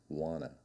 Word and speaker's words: want to: the beach however saying wanta isn't the fastest way it's pronounced I often change the words want to to the single sound wanna I wanna go surfing